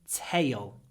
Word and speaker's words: tail: tail tail is tail here we have an a sound before a l and usually when we have a before a l at the end of a word we add a syllable T ta ta tail a bushy tail tail